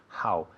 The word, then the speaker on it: how: How. Y nunca es how. Es how como cuando quiere limpiar tus gafas.